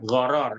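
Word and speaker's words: gharar: kedua adalah goror ya goror Ini bukan horor berbau ya bukan bukan film horor tampil Sorong jadi bacanya harus tepat lo ya horor horor itu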